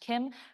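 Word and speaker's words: CIEM: a Kim solution and it's pronounced Kim like the name it was coined by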